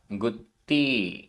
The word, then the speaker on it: गुत्ति: गाथा क्रमांक 97 उच्चारण गुत्ति आधा ता पूरता गुत्ति जोग निरो जोग निरोहो समधि